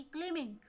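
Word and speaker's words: climbing: हैं, लेकिन बोलने में बी की आवाज़ हमें सुनाई नहीं देती, क्लिमिंग।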